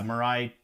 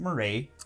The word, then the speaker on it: Mirai: a job but yeah mirai definitely isn't murray ray yeah no big